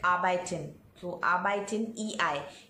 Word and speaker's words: arbeiten: Now see, in German you have words like arbeiten, so arbeiten, EI. In German, EI is pronounced as I and IE is pronounced as E.